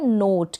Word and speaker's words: नोट: ओ फिर ये है नोट क्या है नोट लास्ट में आप याद रखें ई आएगा तो उसका प्रोनंसिएशन नहीं होगा टी को ट पढ़ा